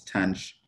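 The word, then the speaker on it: tanh: get right away so we have that guy which we pronounce tange i don't know of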